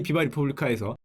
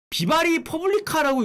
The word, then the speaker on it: 비바 리퍼블리카: 이거 어떻게 읽습니까 여러분? 비바 리퍼블리카. 비바리 퍼블리카라고 읽는 분이 있더라고요. 싫어합니다. 싫어. 비바리 퍼블리카. 비바리 퍼블리카 아닙니다. 비바 리퍼블리카.